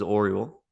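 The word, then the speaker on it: Orual: oldest daughter of the king whose name is Orel so it's oer o r u a l it's a bit hard to pronounce for me but um she's the oldest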